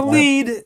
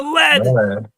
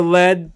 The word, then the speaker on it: lead: Not the lead, the lead. He told me for sure it's the lead because it rhymes with dead.